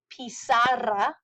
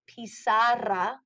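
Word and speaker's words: pizarra: a chalkboard is La pisara roll your R if you can La pisara chalk boards L pisas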